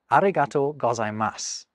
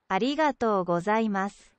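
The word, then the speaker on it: ありがとうございます: Now, did you notice anything about how I said that the first time, arigatō gozaimasu, other than my apparent Spanish accent? I didn't pronounce that U that you can see at the end.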